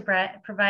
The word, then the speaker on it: Brett-Gach: welcome all of you and our speaker Brett gawk did I pronounce that correctly you did a great